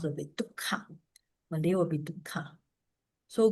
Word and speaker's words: dukkha: So Pali will be, instead of duk H sound, is actually assimilated, means make it easier to pronounce, will be dukkha.